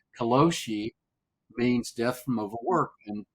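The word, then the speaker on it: karoshi: name for uh death by overwork it's called kosi I've learned to pronounce it correctly kosi means death from overwork and people in their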